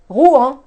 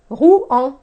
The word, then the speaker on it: Rouen: The second one is Rouen. Now, OU is OU in French. En is one, it's a sound from the first family right here. En. Okay? So we have Rouen. Rouen. Rouen.